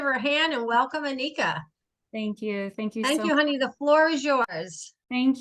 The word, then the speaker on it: Ineka: Her name is Ineka. That's Ineka. What you say, long E.